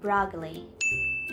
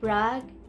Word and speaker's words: broccoli: า จ ะ อ่ า น ว่ า broccoli โ ด ย ที่ เ ร า จ ะ เ น้ น ค ำ ว่ า broccoli น ะ ค ะ broccoli I'm not a